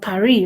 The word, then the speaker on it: Paris: And of course, the S is silent. Pourquoi? Because Pascal, the French, when the last letter is a consonant, they don't pronounce it, right? They don't pronounce it. It's silent.